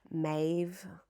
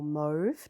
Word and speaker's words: mauve: So, it's the um super fine wool um 50 g of mave or mauve depending how you pronounce it mix in eight